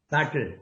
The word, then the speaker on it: subtle: ඔන්න මේ වචනේ ප්‍රොනවුන්ස් කරන හැටි මේ T අකුර නිශ්ශබ්දයි silent letters. අහලා තියෙනවද ඉංග්‍රීසි වල silent letters? මේක ප්‍රොනවුන්ස් කරන්නේ අහගන්න. subtle subtle subtle.